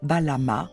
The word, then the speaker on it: Balam: Il pouvait aussi choisir d'écrire le mot phonétiquement en alignant une variété de signes phonétiques signifiant tous Balama, qui se lit Balam.